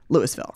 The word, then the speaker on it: Louisville: pretty quickly corrected which is how do you pronounce Lewisville Louisville for sure this is not Louisville that's